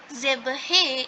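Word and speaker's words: zèbre: So zebra is pronounced as zebhe in French.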